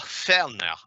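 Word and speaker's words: føner: around laughing because uh that is not an a and an o that is a felner i believe is the pronunciation it's a norwegian word for a hairdryer but these are different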